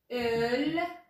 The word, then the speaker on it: ölmek: Ölmek. Olmak ve ölmek farklı anlamları var. Telaffuzları farklı. Olmak, ölmek. Buna dikkat edelim.